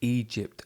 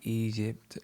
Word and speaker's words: Egypt: Now in English, the gy sound is quite hard, so "Egypt." I think she said something like Egypt or Egypt. Um, go back and listen and you'll notice it wasn't the hard sound that it should be, but I do like